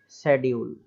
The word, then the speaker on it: schedule: तो इसमें फर्स्ट आप एग्जांपल के लिए देखिए क्या लिखा हुआ है, शेड्यूल।